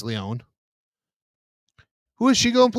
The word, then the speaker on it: Lyonne: Well, Natasha Lyonne, or Leone, whoever you ask how you pronounce her last name, but it's Leone.